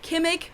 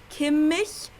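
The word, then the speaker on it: Kimmich: his last name isn't gimmick but kim mich it's the same sound as in ich in german then we got kevin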